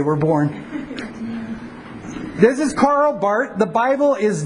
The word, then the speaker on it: Barth: Karl Barth, his name is Swiss, so you don't pronounce the R. Karl Barth. Karl Barth, 1886 to 1968.